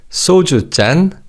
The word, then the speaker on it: 소주잔: Now you may have also noticed the different sounds, but with 맥주 and soju, 잔 is pronounced as 짠 because of the 치읓 in the preceding syllable 주.